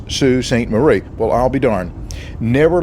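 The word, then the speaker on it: Sault Ste. Marie: and I asked a local lady how it's pronounced she told me that it's Sue St Marie well I'll be darn never let it be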